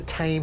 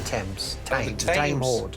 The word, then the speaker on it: Thame: years it's called the tame horde and what it was was a guy the tame horde how do you spell that as in the river thames no the tame horde